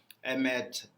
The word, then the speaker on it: Emmet: Emmet, they are actually pronounced that as M, as the Hebrew word for truth.